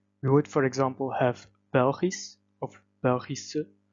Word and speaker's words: Belgisch: We would, for example, have Belgisch of Belgische. This SCH comes at the end of the word and would cause an S sound to be pronounced.